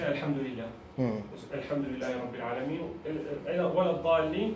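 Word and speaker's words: الحمد لله: It is actually Alhamdulillah. Ha, not ha, not H. It's a letter Ha. It's not. It doesn't have an equivalent in English. Try and pronounce it from the throat, not from the ceiling of your mouth.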